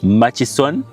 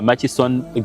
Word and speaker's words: Murchison: Mas FS maction maction some of you say maction it's m ma it's machis machon yeah machon FS okay yeah that's the right spelling you all see